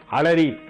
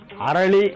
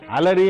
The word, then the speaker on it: அலரி: அலரி என்பது தூய தமிழ் நாம் இப்பொழுது அதை அலறி என்று சொல்கிறோம் அரளி என்றும் சொல்கிறோம் அரளி என்பதுதான் அலரி அலரி என்பதுதான் சரியான தமிழ் உச்சரிப்பு ஆனால் அரளிப்பூ அரளிப்பு தான்